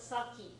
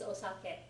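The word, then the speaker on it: お酒: the spelling of osake Americans call it saki all the time but it's not saki it's osake or just sake if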